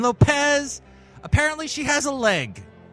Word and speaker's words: Lopez: nobody knew Jennifer loh lohez I think you said her name wrong I mean Lopez apparently she has a